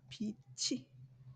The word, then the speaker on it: 빛이: 2번으로 가서 볼게요 여기에서 오빠의 적절한 발음은 비지가 아니라 뭐야 비치 비치라고 해야지 맞는 거죠 그래서 원활하지 못하는 의사